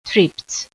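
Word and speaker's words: tripped: então tript no passado fica com dois PS e a pronúncia de T também tript she Chop onions novamente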